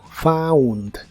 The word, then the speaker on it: found: el pasado es Found la combinación de las letras o u en inglés muchas veces se pronuncia como Au como en este caso Found Found esta forma la puedes